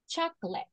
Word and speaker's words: chocolate: four syllables in Spanish in English it's written the same but it's pronounced chocolate so that means that